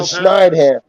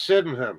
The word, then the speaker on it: Sydenham: going in the Snideham. It would have been the Snideham from Georgian Bay and Owen Sound. Yeah, that's Sydenham. That's going Sydenham. in there. That's pronounced Sydenham.